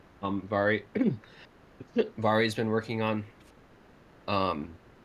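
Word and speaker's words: Mhairi: name is spelled m-h-a-i-r-i but in gaelic mh makes a v sound so instead of mahari it's vari so that's what i'm referring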